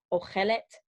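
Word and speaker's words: אוכלת: We have that O sound, the same O sound that was in the masculine singular, but we have an additional et, okay? Tav sound at the end.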